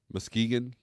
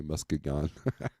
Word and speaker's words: Muskegon: he got LaVine Arizona mus musk Muskegon Michigan Muskegan sorry Muskegon sounds like a Kaiju picks up at 9:00 a.m.